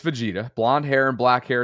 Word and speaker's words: Vegeta: But Richard writes, who's a channel member, says it's pronounced Vegeta like Vegeta. No, it's Vegeta. We just figured that out, Richard. That didn't help, that pronunciation guide. Deshaun's like, no. Listen, Bobby was right. It's Vegeta, okay?